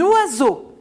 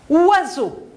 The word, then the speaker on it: oiseau: Oiseau. Première syllabe, oa. Deuxième syllabe, zo. J'entends ze, je vois ce, mais j'entends ze.